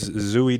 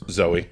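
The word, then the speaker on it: Zooey: big fan of this zoie de Chanel it's Zoe yeah yeah it's like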